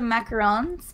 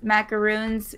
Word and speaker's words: macaron: or what so sorry I've pronounced the macarons because macaroons if I say it that way people think that I mean like the like the coconut things you know because they were like macaroon cookies and so like I'll say that and people think that I mean that so usually I think the pronunciation is like macarons I think mega Road